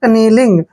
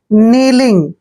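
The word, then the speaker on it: kneeling: नहीं करना है देखिए जब भी एन से पहले के आता है तो के वहां पर साइलेंट होता है यानी के का उच्चारण हमने वहां नहीं करना है तो एन को पढ़ते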